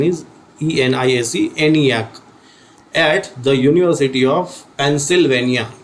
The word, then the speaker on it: ENIAC: It was named as ENIAC, ENIAC, called as ENIAC. The pronunciation is ENIAC, at the University of Pennsylvania, US.